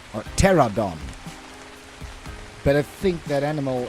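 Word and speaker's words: Pteranodon: The P is silent.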